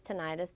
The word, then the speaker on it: tinnitus: Tinnitus, tinnitus, depends on where you're from. Oh, Dr. Goforth told us an itis is like appendicitis, but an tinnitus is the right way to say it.